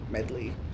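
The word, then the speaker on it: Medli: looked like there or medley medley that's how I pronounce her name I don't know if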